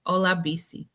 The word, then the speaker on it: Olabisi: Um, I tell people it's pronounced ola, like Spanish hello. Ola, then the letters BC. Ola BC.